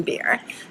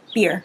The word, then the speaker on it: Bier: So for the record, this was directed by Susan Bier, whose name I always mispronounce. It's B-I-E-R. Beer.